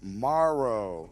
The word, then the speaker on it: Morrow: And of course, we got our special guest, Chad Morrow.